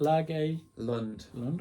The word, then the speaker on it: Lage Lund: Lage Lund.